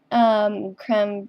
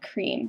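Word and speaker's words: crème: It's actually creme, and I go by creme, not cream, because those are two completely different things.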